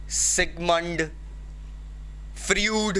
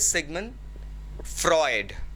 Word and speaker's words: Sigmund Freud: The name that we pronounce is sometimes considered very wrong. हम लोग इसे सिगमंड, फ्रूड कहते हैं। कुछ प्रोनाउंसिएशन तो और भी ज़्यादा हिलेरियस होते हैं, बट we need to understand the name itself is सिगमंड फ्रॉइड।